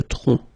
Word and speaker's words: tronc: Le tronc, okay, remember, final C is not pronounced here. Le tronc, okay?